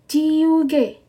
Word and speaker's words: 지우개: Jiuge. Jiuge. Oke, penghapus bacanya jiuge.